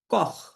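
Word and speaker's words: Koch: সেহায়ের আগে যদি আ ও উ এই তিনটা লেটার থাকে আ ও উ এই এই তিনটা লেটার থাকে তখন আপনাকে এটা খ এর মত উচ্চারণ করতে হবে যেমন উ সেহা কি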